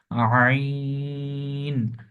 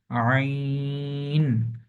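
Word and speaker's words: عين: রকম এটা একটু মনোযোগ দিয়ে দেখতে হবে এটার উচ্চারণ হচ্ছে আইন আইন এটা হচ্ছে গাইন গাইন জাস্ট একই রকম দেখতে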